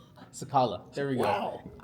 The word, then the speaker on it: Cicala: If you want to be cool and kind of pronounce it like Italian, it's Chakala.